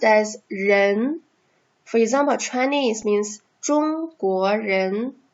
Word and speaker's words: 人: So it is pronounced as 人.